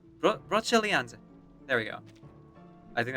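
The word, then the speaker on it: Brocéliande: Hang on, let me just correct my pronunciation here. Broceliande. Broceliande.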